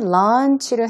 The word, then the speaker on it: launch: 여기에서 이번에 launch를 했어요. 출범을 한 거죠. 자, 그래서 au요 부분이 길게 소리 난다라는 것이고요. 런치라고 할 때와 발음이 조금 다릅니다. 여기서는 어 발음으로 길게 소리가 나는 발음이 되겠고 또 문장 속에서도 구분하실 수 있습니다.